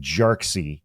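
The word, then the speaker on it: Jarkesy: the case is Security and Exchange Commission V jxy and that is spelled j a r k esy and before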